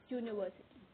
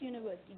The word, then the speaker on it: university: When we pronounce university, जब भी हम university को pronounce करने की कोशिश कीजिए, university. University जब हमने pronounce किया तो y की sound आई, that is a sound of consonant.